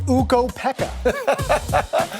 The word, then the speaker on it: Ukko-Pekka: It's Ukko-Pekka.